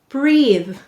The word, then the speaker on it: breathe: underline the silent e why do we have a silent final e in breathe you're right it makes the th say the u sound what does this say